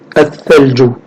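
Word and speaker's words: الثلج: Et quand on définit ici, en jaune, là, alif lam, l'article défini, donc le tha, il prend une gémination, il prend une shadda. Donc on dit, ou on lit, al-thalju, la neige.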